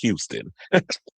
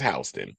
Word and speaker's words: Houston: I hope you wasn't pronouncing it Houston. It's Hston, but yes, I've been to Hston Street.